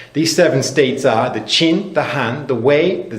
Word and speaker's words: Qin: the state of Qin I think it's pronounced chin in English it's spelled Qi n